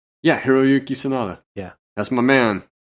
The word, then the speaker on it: Hiroyuki: um how do you say sonata's first name hiroyuki yeah hiroyuki Sonata yeah that's my man he [ __